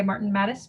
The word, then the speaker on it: Martin Mattes: Tonight, we will be having a presentation by Martin Mattis. Please tell me if I said that wrong, because I've been saying it wrong for a very long time then. You got that right.